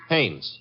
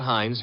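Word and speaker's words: Haines: Hannes. H A I N E S. Ah. Oh, Hannes. Yeah. Do you know him? Well, there's a fell named Hines used to fish. No, no, no, not Hines.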